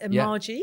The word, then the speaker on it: MAJI: Have I pronounced it right? Yeah, MAJI.